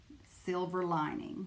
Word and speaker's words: slvrlng: Silver Lining. It's kind of a shortened way of saying Silver Lining.